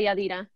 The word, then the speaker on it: Yadira: Am I pronouncing your name right? Yadira. Yes, but I go by Yadira.